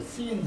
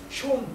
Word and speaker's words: Sean: 이 발음을 씬 이렇게 읽지 않고 숀 코널리 이렇게 읽더라고요.